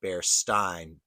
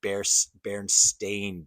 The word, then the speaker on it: Berenstain: Bearstain, spelled Berestain, or do you think it's Bearstein, Berenstein? I guess it would be like kind of a Jewish pronunciation of it. Uh, I personally remember it as Bearstein, but it is Berenstain Bears.